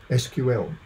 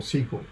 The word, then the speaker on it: SQL: the structured query language, SQL or SQL, depending upon how you pronounce it.